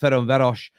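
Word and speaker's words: Ferencváros: whiteart Lane against F I think it's pronounced feron veros in the Europa League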